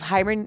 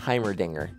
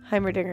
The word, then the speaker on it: Heimerdinger: had a moment I I thought for some reason I thought it was himr himr um something how do you say again Heimerdinger Heimerdinger I I didn't know it was a Dinger Dinger um sorry I